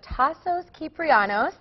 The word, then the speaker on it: Tasos Kyprianos: All right, we are here in our live studio with Tassos Kyprianos. Did I pronounce it right?